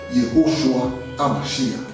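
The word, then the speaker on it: יהושע המשיח: Yehoshua HaMashiach, tel que son nom est prononcé dans la langue araméenne ou hébreuse.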